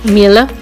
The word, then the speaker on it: Miele: Uh, it's a German name, Miller. Miller. I don't know. They I search in Google, and you have to pronounce it Miller.